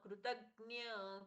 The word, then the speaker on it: कृतज्ञ: शख ख जैसा प्रच्छवास कृतज्य कृतज्ञ कृतज्ञ जो भी य का जो भी आप उच्चारण करते हो मान्य होगा कृतज्ञ कृष्ण जी का